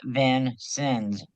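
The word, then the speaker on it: Vincennes: And it is pronounced Van Sins V I N S I Ns.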